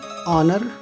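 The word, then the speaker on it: honour: कुछ शब्दों में एच ओ से शुरू होने वाले शब्दों में एच का प्रोनाउंसिएशन नहीं होता। For example ऑनर, honest, ऑनरेबल, आवर, ऐसे वर्ड्स में, ओके।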